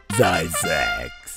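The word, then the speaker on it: Zzyzx: でいきなり問題です gty GX 何と発音する答えはザックス読めるか次に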